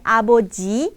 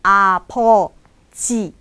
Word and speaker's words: 아버지: Cara pelafalan dan pengucapannya po ya teman-teman, nyebutnya aboji tapi apoji yang berarti ayah.